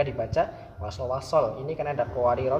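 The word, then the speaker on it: قواريرا: Kemudian ada qawarira di dalam gharib ini cara bacanya ada 4, yaitu panjang, pendek sukun. Dibaca panjang ketika disukun diwaqaf. Kanat qawarira ra-nya tetap dibaca panjang jika diwaqaf. Kemudian dibaca pendek ketika diwasolkan.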